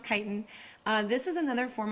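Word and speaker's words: chitin: those grasses ourselves uh kiten it looks like chitan I know but it's pronounced kitan uh this is another form of a carbohydrate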